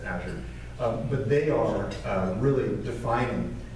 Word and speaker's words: Azure: Amazon Web Services, Microsoft Windows, Azure, which is the worst brand in the world because everybody says it incorrectly. You got Azure, but trust me, it is Azure.